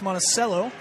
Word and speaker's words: Monticello: But so Jefferson's house and estate was called Monachello. Spelled the same as Monaceel. Out here it's a C sound. It's like an S sound instead of a cha sound. So it's Monaceel.